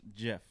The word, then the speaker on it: GIF: okay let's go Nick GIF is pronounced Jiff and you tell us